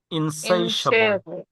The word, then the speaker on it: insatiable: টিয়েবল না, এটা হবে ইনসাইশাবল।